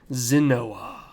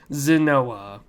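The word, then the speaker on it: Xinoa: and it is lord zinoa now i don't know if that's how you pronounce it it's a very wicked name it's like x i n o a and it's kinda of weird zanoa but lord zanoa is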